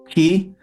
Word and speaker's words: chi: So So if I set the parameter key or chi, depending on how you like to pronounce it, equal to, let's go here.